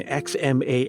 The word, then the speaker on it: Xmas: And before we go any further, I should note that the abbreviation X MAS S should still be pronounced Christmas.